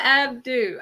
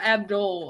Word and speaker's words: Abdul: like a that is Paula Abdu Abdul I'm saying it wrong Abdu Abdul Paula ABD